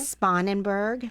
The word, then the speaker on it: Sponenberg: Sponenberg. Sponenberg, Diane.